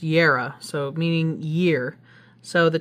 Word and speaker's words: Jera: Okay, I think that's Jera. Okay, it's spelled with a J, but it's pronounced year.